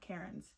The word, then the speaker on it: Cairns: Before that, let me like look up Cairns pronounce. Okay, there's a video. 1 second, guys. Instead of saying hair, we want to stop the pronunciation, keep our mouth open. Cairns. Okay. Cairns. It's Cairns, guys.